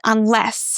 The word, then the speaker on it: unless: The same with unless.